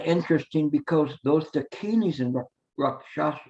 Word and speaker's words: rakshasa: hell, the dakinis and rakshasas. And it's kind of interesting because those dakinis and rakshasa, how do you say rakshasa? Rakshasa. I didn't come close on that one.